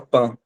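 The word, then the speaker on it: pain: Pan a gente fala pan, como se fosse a palavra, o início da palavra mãe, a gente fala mã e mãe. Então, esse pan aqui é a mesma coisa.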